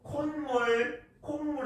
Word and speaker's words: 콧물: 근데 이걸 그냥 콧물이라고 적어버리면 역시나 순수한 서인은 콧물이라고 읽겠죠. 근데 콧물이라고 읽으면 안 된다는 것이죠. 콧물 해야죠. 그래서 뭡니까? 발음이 이 니은음을 첨가했고 콧물이 되는 것이죠.